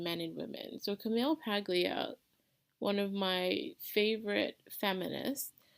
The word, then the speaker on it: Paglia: I always hear her name pronounced as Paglia, but it's Paglia.